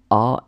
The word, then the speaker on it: as: But then when you conjugate it in the second person, tu as, S is not pronounced.